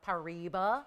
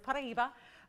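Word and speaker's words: Paraíba: Of course, that's a it's a pronunciation that's from Brazil because that is where it's named.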